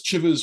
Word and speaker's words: Chivers: I will say just to avoid it's Chivers rhymes with rivers rather than Chivers rhymes with Chivers.